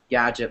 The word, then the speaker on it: gdgt: It's gadget, but it's spelled out GDGT, or Phone Arena, and